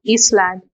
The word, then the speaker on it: island: See, in island also this S, sir, there is no symbol here, so that's why S is silent. It is not Island, but it is island.